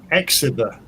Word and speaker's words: Xavier: But his name is Exiber, but I would say his name was Javier.